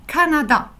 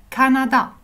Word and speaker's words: Kanada: Le Canada en langue turque, c'est Canada. La prononciation reste la même, c'est juste que ça s'écrit avec un K. Canada.